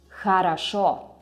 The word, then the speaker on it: хорошо: Here, in this word, the stress goes on the last syllable. That's why you read it as хорошо.